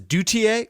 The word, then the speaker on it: Duthier: Uh, next week, Vladimir Duthier will be here. He says, apparently he says Dutier.